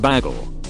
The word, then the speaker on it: bagel: it that my mom pronounces baggles as beagles on purpose to mess with me English is her second language so I just always assumed that she didn't know the right pronunciation I was in my late twenties before I realized it I shall Danone it's definitely something she would do everyone knows it's pronounced bagel source I lived in